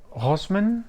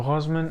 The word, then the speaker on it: Rossmann: So I could find that Rossmann, that's not how you pronounce it. So Rossmann and Douglas in Germany are the official retailers of Dita Von Teese perfumes.